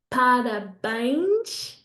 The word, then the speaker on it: parabéns: Last three then, parabéns. I didn't tell you this, but when a word ends in NS, it works the same as M, okay? So we have to make that E nasal as well.